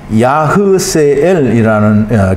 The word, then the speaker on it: 야스엘: 야스헬은 이 납달리의 아들인 것 같은데 이게 제가 표시를 잘 안 해놨는데 야스헬은 야흐세엘이라는 그런 발음을 하게 되는데요.